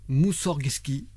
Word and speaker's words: Moussorgski: tu pries vega donc moussorsgki comme ça se prononce moussorsgki moussorgski moussorgski ayant découvert son oeuvre tableaux d'une exposition